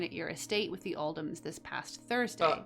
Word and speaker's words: Oldham: It was a great honor receiving the invitation to dine at your estate with the Oldhams this past Thursday. Actually, it's pronounced old hams.